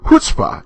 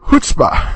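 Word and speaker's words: chutzpah: the correct pronunciation of hutzpah it is the ch is pronounced like the h and i know i've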